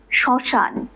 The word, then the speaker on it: শ্মশান: বর্ণের সাথে যুক্ত হয় ম ফলা সাইলেন্ট থাকে অর্থাৎ উচ্চারিত হয় না কিন্তু যেই ব্যঞ্জন বর্ণটির